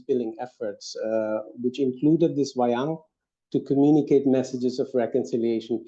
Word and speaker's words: wayang: shadow puppet theater called wayang, I think, that's how it's pronounced, and it's used for communicating philosophical and moral teachings.